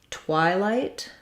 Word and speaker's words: twilight: in twilight we have it's not a rounded sound we have the i diphthong and first syllable stress so you can think about that i would build that from just the y so it's actually just like the letter y or the question word y and then y twi